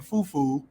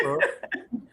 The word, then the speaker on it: fufu: Like they first of all, people mispronounce it. They're saying fufu. It's not fufu. It's fufu.